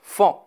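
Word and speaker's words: faon: petit s'appelle le fond attention ça s'écrit f&a au 1 mais ça se prononce fond combien y at-il de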